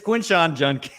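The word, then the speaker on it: Quinshon Judkins: Did I say it wrong? Judkins? It's Quinshawn Judkins.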